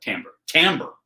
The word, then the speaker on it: timbre: Timbre.